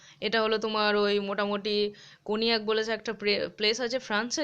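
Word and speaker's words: Cognac: brandy মদ খনিয়াক এটা হলো তোমার ওই মোটামুটি কনিয়াক বলেছে একটা প্লেস আছে ফ্রান্সে যেখানে তৈরি হয়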